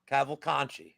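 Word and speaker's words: Cavalcanti: Cavo-Conte. That's how it's pronounced.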